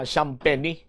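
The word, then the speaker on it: Champagnie: players Antonio SP Shamp noen siya ang pagpronounce ah last name ni Julian Shampenny isa sa mga makabig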